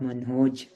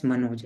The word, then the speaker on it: Manhoj: Vamsi, Amit, Gajala, Manhoj. Manhoj. That's a good name, Manhoj. I hope we don't pronounce it as Manoj, right? We pronounce it as Manhoj.